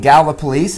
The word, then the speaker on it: Gallipolis: so I'm here in galva police as those of you who saw me all